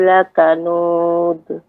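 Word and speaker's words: لكنود: Innal insana li rabbihi lakanud. Ya. Jadi pengucapan lakanud ya, itu tidak berdiri dengan sendiri. Lakanud tidak. Akan tetapi dia memantul. Lakanud. Dia berhenti dengan berhentinya kita mengucapkan.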